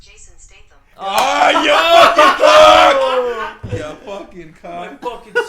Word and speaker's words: Jason Statham: That's pronounced Jason Statham.